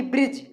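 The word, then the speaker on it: bridge: नहीं किया जाता है जैसे की ब्रिज ब्रिज में जी से पहले दी आया है इसलिए जो है दी का उच्चारण नहीं किया जाएगा जैसे लिखा है ब्रिज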